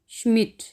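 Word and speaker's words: Schmidt: डे थे की आवाज़ देंगे, आएगी इसकी स्टट, श्मिट। डे जो है ये साइलेंट है, ये टे की आवाज़ आनी है इसमें। स्टट, श्मिट, डे साइलेंट है।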